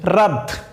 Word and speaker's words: wrath: আমাদের পরের শব্দটি হচ্ছে রাধ, WRATH, রাধ। রাধ শব্দের অর্থ হচ্ছে রাগ, ক্রোধ, হ্যাঁ, জিদ। তো এখানে দেখেন ডব্লিউ আছে কিন্তু এখানেও ডব্লিউ এর কোনো উচ্চারণ হয়নি, উচ্চারণ শুরু হয়েছে এখান থেকে, RATH, রাধ।